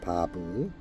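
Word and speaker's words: וו: 바브. 이 글자는 못을 의미합니다. 예수님께서 십자가에서 못 박히신 그 못, 바로 바브라고 읽습니다.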